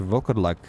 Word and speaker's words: Volkodlak: It's almost how I would pronounce werewolf in my country, except I wouldn't say Volkodlak, I would say Volkodlak without the O.